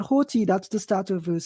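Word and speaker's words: ὅτι: That we pronounce that Hoti, that's the start of verse 7.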